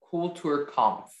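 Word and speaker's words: Kulturkampf: i'm roy seligman i'm in grade 8 and i live in nassau bahamas your word is cool tour conf could i have all of the information please the word came pronounced cool tour com cool tour com the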